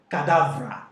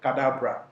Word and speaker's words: Cadabra: they actually thought that he was pronouncing cadavra instead of cadabra that was when jay